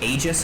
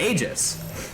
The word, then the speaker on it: Aegis: I didn't know that Aegis was pronounced like that for the longest time. I thought it was pronounced Aegis. But Hunter is very, very vocal of his dislike for that pronunciation in particular, and that Aegis was the correct pronunciation.